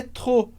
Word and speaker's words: trop: Então, j'ai trop envie de faire, a gente não pronuncia o P de trop.